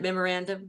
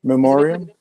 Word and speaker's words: memoriam: I always say it wrong but is it memorandum? No. What is it? How do they say it? Memoriam.